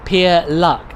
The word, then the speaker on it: Pierluc: oh your name sorry your name is pronounced pier luck ah pierluck ah and what did i say pear or something right right pier sorry pier luck welcome to the channel